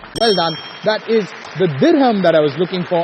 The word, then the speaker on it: dirham: The answer is dirham. Dirham. D-I-R-H-A-M. D-I-R-H-A-M. Dirham. Yes. You're sure? Yes. Well done. That is the dirham that I was looking for as the answer, and a good answer on that one.